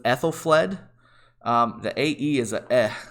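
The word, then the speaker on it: Æthelflæd: people ask me how the crap do you pronounce this name uh it's actually not too bad so it's ethyl fled um the ae is a sound so it's ethyl fled and ethelfled is it's kind of curious that they turned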